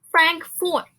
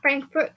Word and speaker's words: Frankfort: Next one, Kentucky's capital, Frankfort. Not Frankfurt, guys.